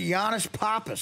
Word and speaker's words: Yannis Pappas: The great Yannis Pappas. Am I saying that right? You are, yeah.